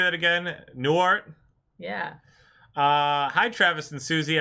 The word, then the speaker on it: Newhart: Newhart?